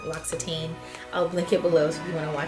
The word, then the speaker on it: L'Occitane: So in the other time I filmed this, I looked up how to pronounce this and I found a cute video from them, L'Occitane.